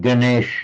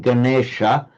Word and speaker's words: Ganesha: Um and we have the Indian god Ganesh it's pronounced nowadays. It's Ghana. Ghana means a herd or a group and specifically animals or animals collectively. And the Ghana is by something Ganesha in modern modern Hindi Ganesh is lord of the herds.